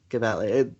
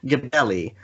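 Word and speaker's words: Gebelli: so i can say that that is not pronounced kevel that it is nasir gabelli uh kabelli is not an iranian name i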